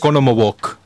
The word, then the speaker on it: Oconomowoc: Oconomowoc. That's the right way to say it.